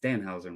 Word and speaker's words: Danhausen: that and Carlos mentioned to price his it's Danhausen, right? That's how you It's Dan.